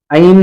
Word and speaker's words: ऐं: ऐम हो क्लीम हो तो भी चलेगा, ऐम चलेगा, क्लीम चलेगा। असली उच्चारण है ऐं, ऐं, बस खत्म।